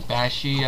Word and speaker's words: Bakshi: So I'm sorry, I'm trying to pronounce his last name correctly. Bakshi, I believe his name is pronounced.